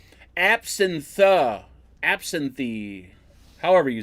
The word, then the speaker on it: absinthe: Abstinine. Absinthe.